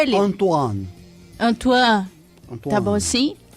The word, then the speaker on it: Antoine: Antoine. Tá bom assim? Você só não pronuncia o E. Antoine.